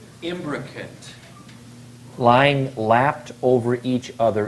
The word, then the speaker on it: imbricate: Imbricate. Can we have one more pronunciation, please? Imbricate. Imbrocate.